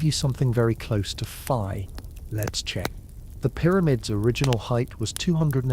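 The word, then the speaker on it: phi: The golden ratio is a number usually written as fi that's spelled ph hi pronounced like f.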